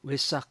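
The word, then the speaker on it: Vesak: 동남아시아 불교에서는이 산스크리트 브라고 쓰는 것을 어에 가깝게 발음을 하죠 그래서 웨이라고 하는데 어 웨사 달의 보름을 어 동남아시아에서는 붓따의 탄생일로 기념을 하고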